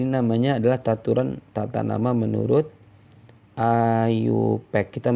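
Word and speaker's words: IUPAC: Ayu Pak jadi namanya adalah taturan tatanama menurut Ayu Pak kita bacanya Ayub ekajaya a tulisannya yups yups ini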